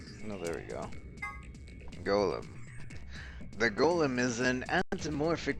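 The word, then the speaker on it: GOLM: bit which is a Golem go olum much to a surprise he ends up being pronounced like golden anyway at the side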